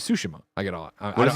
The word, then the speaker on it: Tsushima: It's like now where it's like when Blessing mispronounces Tsushima. I get all. What does he say? He says Tsushima still. Oh, really? Yeah. It's always the emphasis on the first syllable.